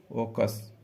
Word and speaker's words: AUKUS: Next question, AUKUS ओकस, इसको बोलते हैं ये ना, साइलेंट कर दो, ओकस सुरक्षा गठबंधन।